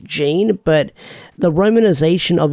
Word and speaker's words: Jin: His name is, like, on the wiki pronounced Jean, but the romanization of his name is Jin.